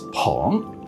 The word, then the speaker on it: 朋: It's pronounced Peng in Mandarin or Ho in Japanese.